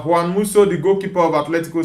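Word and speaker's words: Juan Musso: Juan, is it Dan or Juan Musu? According to Spanish pronunciation of the name, uh Juan Muso, the goalkeeper of Atletico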